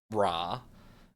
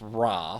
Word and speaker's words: Ra: in favor of more religious temples particularly to raah which I just checked the pronunciation of and realized the first half of this video is going to sound bad but it's raw for the record um who is attained pride